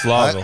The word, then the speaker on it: Louisville: Like Louisville is what I'm hearing. Louisville. Yeah, that's what I heard when I was down there by the locals. Yeah, because exactly, he went there so he can pronounce it now. Yeah, exactly. It's Lawville.